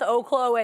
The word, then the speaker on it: Oklo: Oklo is actually pronounced Oaklo and it's not even something that we can